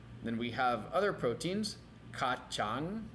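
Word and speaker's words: kacang: we have other proteins kachang remember the C is pronounced like a CH kachang is bean tahu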